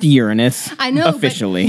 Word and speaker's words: Uranus: it's it's really one is it your anus look i've been waiting the whole show i really thought referee can you control this it's pronounced uranus i know officially not